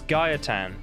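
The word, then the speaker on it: Gaetan: say say his name I've been saying it wrong this whole time it's Gaia tan and that's the guy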